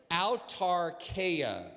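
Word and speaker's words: αὐτάρκεια: the funny thing is i even phonetically have this written out of my notes altar kaya say that with me al tarkaya and it's a fascinating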